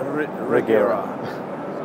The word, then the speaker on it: Regera: that how it's pronounced regera actually in swedish it's a hero very difficult to say yeah so i would say internationally let's call it the regera so it's quite different